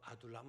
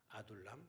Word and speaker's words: 아둘람: 남이 듣기 발음 안됩니다 아 음 아들 2 남 아둘람 에 아둘람 이렇게 애국이